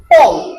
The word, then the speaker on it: Paul: Paul. Yes. Paul. এটা আমরা Paul বললে কোনো সমস্যা নাই। One called Peter and one called Paul. অনেকে বলে পাউল বলে, কিন্তু পাউল কিন্তু উচ্চারণ না।